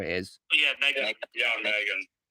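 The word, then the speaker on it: M3GAN: Yeah, Megan. It's just pronounced like that.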